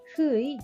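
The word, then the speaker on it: ふ: 후의 발음은 우리나라의 후와 흐의 중간 발음입니다. 입술을 너무 둥글게 하여 앞으로 내밀고 발음하지 않도록 주의해 주세요.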